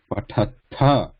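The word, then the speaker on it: पठथ: here you look here, Pathatha, Pathatha. So there is ta is muted here, right? This is ta, and this is tha. This is mahaprana, tha. This is alpa prana, less breath, ta.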